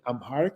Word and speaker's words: Amharic: you say you're more comfortable speaking in Arabic and then English and then Amharic? Is I think how you Exactly.